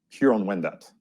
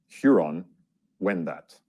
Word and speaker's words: Huron-Wendat: Here are some of them and their correct pronunciation. Toronto. Toronto. Nishnabek. Nishnabek. Haudenosaunee. Haudenosaunee. Huron-Wendat. Huron-Wendat.